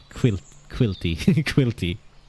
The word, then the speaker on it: Caílte: Quilty. Say it like quilter. One who becomes quilts. One who quilts, but with an A.